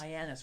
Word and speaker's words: Hyannis: Hyannis rhymes with my anus.